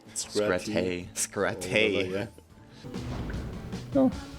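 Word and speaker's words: Scratte: How do I pronounce it? Oh yeah, this is the other. What's her name? Scratay.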